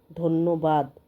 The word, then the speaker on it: ধন্য: ধন্যবাদ সত্য মানে একটু যেমন ধন্য নকে দুইবার উচ্চারণ করতে হচ্ছে তকে দুইবার এই জফলা দিয়ে তিনটা শব্দ তোমরা বারবার লিখবে।